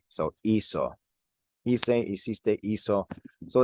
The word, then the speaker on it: hizo: If I spelled this H-I-C-O, C-O is pronounced co. So this would be equal if we kept that same spelling. Remember, we want to be consistent in Spanish. So we actually changed the spelling in the third person of this hacer to a Z instead of a C, just to keep that same sound.